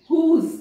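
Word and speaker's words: whose: हुज, यहां पर W silent हो जाएगा, हुज, हु, डब्ल्यू साइलेंट है, एच को प्रोनाउंस किया जा रहा है।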